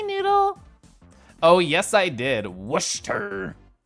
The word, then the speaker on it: Worcester: Worcester. Everything before the stir is pronounced like wood minus the D, but you always want the D.